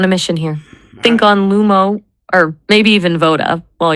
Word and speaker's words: Lumo: Lumo. It sounds like light or lumen. It's two syllables.